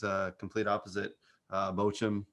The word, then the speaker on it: Bochum: well yeah they um it's actually is bacam you gotta got a german pronunciation my english to german is not is not the greatest it's the double dots over the o um i believe espn